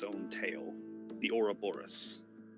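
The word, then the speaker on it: Ouroboros: its own tail the Ora Boris I believe that's how that's pronounced yep yeah that's correct the Ora Boris yeah that symbol is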